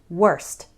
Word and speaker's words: worst: worse and worst well worse ends with a s sound and worst ends with a St sound worst however when speaking fast it's common for that final T to just disappear so